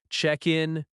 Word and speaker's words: check-in: check in check in Stress on check.